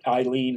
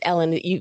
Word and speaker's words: Ellen: Some people pronounce it Eileen or Ellen or something, so I want to make sure I get the right pronunciation. Thank you. you got it. It's Ellen.